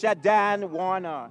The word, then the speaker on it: Shadan Warner: But you forgot to pronounce it. It's Shadan Warner is her name.